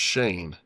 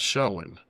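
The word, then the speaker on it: Schoen: Um but you know I I was told afterwards that is pronounced Shane not showing though it's spelled showing but uh want to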